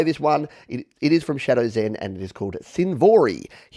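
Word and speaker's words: Shdwzen: in thank you they they spelled their name phonetically this is why i love this community because it's from shadows in and that's how they're spelled s-h-d-w-z-e-n but they know i'm a 40-year-old man that doesn't understand things so instead of me struggling through it they've actually wrote it phonetically it's shadow zen uh they said i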